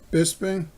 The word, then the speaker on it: Bisping: an autograph of Michael Bisping that's how you pronounce it Bisping is 10 of 99-mile autograph oh look at